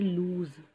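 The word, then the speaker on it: lose: L O S E, इसको हम बोलेंगे लूज Z से, जिसका मतलब होता है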